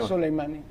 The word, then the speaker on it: Soleimani: nos va a explicar muy bien cómo se pronuncia. Soleimani.